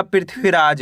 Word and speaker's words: पृथ्वीराज: पढ़ेंगे इसको अपन गृहस्थ प में ऋ की मात्रा प्री आधा ह व में बड़ी ई की मात्रा वि रा ज तो मिलकर बन जाएगा पृथ्वीराज।